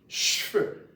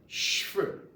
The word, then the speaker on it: cheveux: We pronounce hair in French, cheveux, cheveux, cheveux, hair, hair.